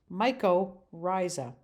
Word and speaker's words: mycorrhizae: live plant roots for its nutrition and it's pronounced mycorrhizae some of the microriza mushrooms include favorites such